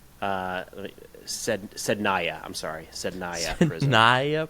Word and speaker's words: Sednaya: Zendaya? Not Zendaya. Zendaya. How do you say it? Sednaya.